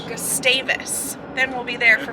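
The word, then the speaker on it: Gustavus: taking a fery to we keep calling it gustavis but it's they told us last night it's pronounced gustavis gustavis then we'll be there for 5 days because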